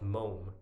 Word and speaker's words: mome: The answer to that was mome, by the way. It's spelled M-O-M-E, and it was crossed with some other words that I also kind of was not very confident with.